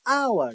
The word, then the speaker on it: hour: sound comes another like where the letter H is silent when pronouncing such words example including and h